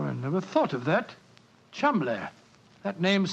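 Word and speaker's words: Cholmondeley: And being an American, he had no reason to know that the name Chumley is in no way pronounced the way it is spelt. Oh, Joe, I never thought of that. Chumley.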